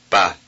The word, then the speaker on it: pas: We shall not pronounce the final consonant. Listen. Pas, pas, pas.